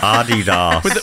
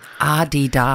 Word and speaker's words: Adidas: Adidas. With emphasis on the first syllable. There's a whole article written about this. Right. Adidas.